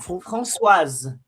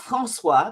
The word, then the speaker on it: Françoise: Françoise. No, Françoise. Not Francois. That's the French name. That's the boy's name. If you put an E after the S, you then put the hard ending on it, which is Françoise.